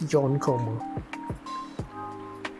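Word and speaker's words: 四コマ: then when you think about it, it's like yonkoma. For 4-panel comics, they don't say four-koma, but everyone says it. They're like, they see the 4 and they see this 4-koma. No, I think it's yon. It's yonkoma.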